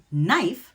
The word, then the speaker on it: knife: For example, knife has that silent K.